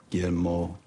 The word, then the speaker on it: Guillermo: Guillermo de la Cruz.